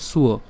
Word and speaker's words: স্ব: তো প্রথম থেকে একটু খেয়াল করি, আমাদের এখানে দন্তাসের সাথে কি আছে? ব আছে, আর এই বয়ের উচ্চারণ সেটি হচ্ছে কি? ব অন্তস্থ ব। আর তার সম্পূর্ণটা যদি আমরা উচ্চারণ করি তাহলে উচ্চারণটা কেমন হবে? সুয়।